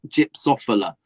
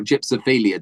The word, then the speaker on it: gypsophila: And a lot of just gypsophila or gypsophilia, depending on how you say it, that white stuff that goes around.